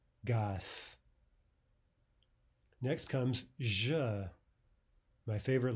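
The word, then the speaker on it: газ: Next, gas is gas, gas, not gaz, right? Devoice the Z, it becomes more like an S, gas.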